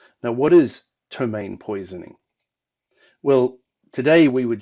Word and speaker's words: ptomaine: I'm going to go with tahu Rhodes and pronounce it Tomei now what is ptomaine poisoning well today we would just call it